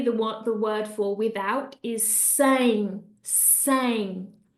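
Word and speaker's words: sem: And finally, the word for without is sang, sang. So hopefully by putting that ng at the end of those words, you're going to be pronouncing them correctly.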